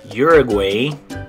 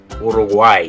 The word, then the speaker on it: Uruguay: Okay, in English we would say this one Uruguay, but in Spanish you're going to say Uruguay. So in English it's Uruguay. In Spanish you say, good, Uruguay.